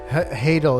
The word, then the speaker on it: Hadal: Hadal, it's like tidal.